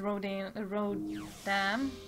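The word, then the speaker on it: Rodin: That guy is Rodan, that's how they pronounce his name.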